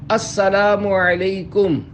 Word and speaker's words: السلام علیکم: لے۔ 11، سلام اور جواب سلام کا درست تلفظ یاد فرما لیجئے۔ پہلے میں کہتا ہوں، آپ سن کر دہرائیے۔ السلام علیکم۔ اب پہلے میں جواب سناتا ہوں، پھر آپ